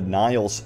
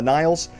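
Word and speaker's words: Nihil: uh pieces of concept art showing off the niles ships and again the niles if you're not familiar with them uh the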